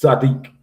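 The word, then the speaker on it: צדיק: So the ah is gonna so it's Sadiq is how you would pronounce it.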